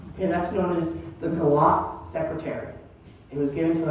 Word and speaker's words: Guillot: And now, mind you, the spelling, but G-U-I-L-L-O-T. Gio, maybe? Gallot? That's how the family chose to pronounce their name.